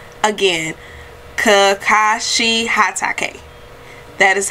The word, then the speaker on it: Kakashi Hatake: it is you know here he comes hey kakashi hatake again kakashi hatake that is how you pronounce his name so thank you all so